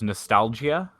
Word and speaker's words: Nostalgia: Also, I was very impressed with a game called The Last Hero of Nostalgia. And Nostalgia? Yeah. I asked how you pronounce it, and it is nostalgia.